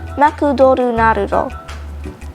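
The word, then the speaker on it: マクドナルド: One, McDonald's. It is said as Makudoru Narudo.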